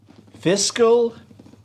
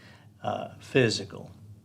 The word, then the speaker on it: fiscal: a couple of etc i've got bad id fiscal and physical our next door neighbor when i was growing up she would say physical you know our our company's physical year ends coming up next week our physical